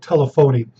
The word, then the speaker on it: telephony: networks and telephony i know it looks like telephony but it's pronounced telephony and those are our textbook topics